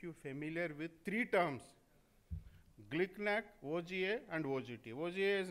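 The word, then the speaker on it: GlcNAc: Pronunciation is glicknack. Glicknack.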